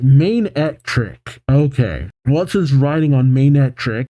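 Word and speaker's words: Manectric: Magnetric? Cetric? How do you pronounce that? Alright, Main-Etric.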